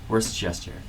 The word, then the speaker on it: Worcestershire: It's Worcestershire.